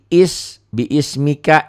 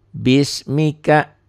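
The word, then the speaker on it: بِسْمِكَ: Biismika, i-nya nggak dianggap. Jadi dibacanya bukan biismika tapi bismika.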